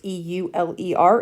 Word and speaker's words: Euler: whose name is Euler so that's how you pronounce e-u-l-e-r it's Euler you're going to come across the